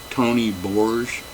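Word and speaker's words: Tony Bourge: But the guitarist on here, the lead guitar guy, Tony Borge, I believe that's how he pronounced his name, he's just fantastic.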